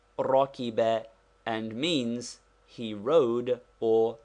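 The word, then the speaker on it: رَكِبَ: is this Rocky bear it is pronounced Rocky bear and means he rode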